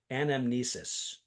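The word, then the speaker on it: anamnesis: I think I'm going to pronounce it correctly. Anomnesis.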